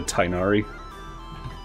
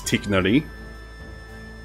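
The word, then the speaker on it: Tighnari: You already lost 50/50 to Tinari. Actually, if I'm pronouncing it right, it's Tiknari. Oh, without a silly R roll.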